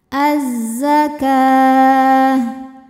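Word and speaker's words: الزكاة: Maka cara bacanya, alif lamnya tidak dibaca ya. Jadi masuk langsung ke zai atau biasa disebut dengan idgham syamsi. Az-zakah.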